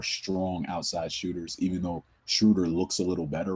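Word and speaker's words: Schröder: One of the things that jumped out to me about the Atlanta Hawks, I see why Dennis Schrader, or Schroeder, I'm sorry, I mispronounced his name, Dennis Schroeder.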